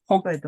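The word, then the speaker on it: 北海道: 이거는 뭐 이런 식으로 홋카이도라고 읽는데 네. 물론 이게 100%는 아닌데, 네. 예. 이렇게 한자일 때는 도를 읽는다는 것. 그렇게 알아두시면 됩니다.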